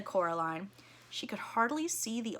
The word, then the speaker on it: Coraline: they get things wrong they got your name wrong you know they kept saying Coraline not Caroline not Caroline at all he picked up